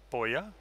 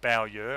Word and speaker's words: Bowyer: And then in amongst all of the tweets, I reached out to Adrian Boyer, or Bowyer, I think he pronounces it, and Richrep 3D, and I got a response back fairly quickly.